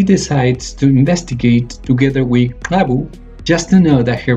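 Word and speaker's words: !Xabbu: Rainy happens to receive a new student called, let me try to pronounce it properly, Abu.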